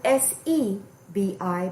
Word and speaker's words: Sebi: It's spelled S-E-B-I, but it's pronounced Sebi.